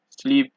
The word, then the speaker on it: slip: you see in French, you generally don't pronounce D's, P's, S's, T's, or X's. However, there are a few exceptions, just a few, such as sud, cap, slip, fils, bus, brut, ouest, huit.